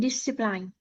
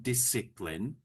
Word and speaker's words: discipline: and discipline. Yes, but we need to pronounce it this way. Disipline. So, it's a soft I each time. Discipline.